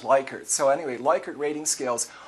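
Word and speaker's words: Likert: Now um Renis um um actually pronounces pronounce his name licard but I I'll stick with liyker.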